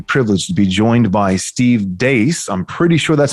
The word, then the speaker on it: Steve Deace: today i'm very privileged to be joined by steve dace i'm pretty sure that's how you pronounce it steve did i get it right